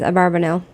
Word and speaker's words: Abravanel: as some of Abel's abravanel's biblical commentary in the Hebrew in the original Hebrew I knew Abravanel as abarbanel the commonly accepted pronunciation of the name in the Jewish community at first as a